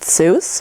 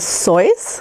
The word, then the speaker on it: Seuss: and did you know his name is actually not supposed to be pronounced Seuss but instead soy but since Dr Seuss